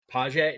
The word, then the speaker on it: Pache: How to pronounce his last name? Paje, Andy Pache? Paje.